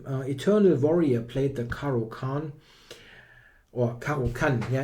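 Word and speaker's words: Caro-Kann: Eternal Warrior played the caroan or caran yeah it's a it should be pronounced German but it's always difficult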